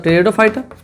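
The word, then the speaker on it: Pteridophyta: आने वाले हैं क्या टेडो फाइट मतलब टेडो फाइट इसम पी साइलेंट होता है इस बात का ध्यान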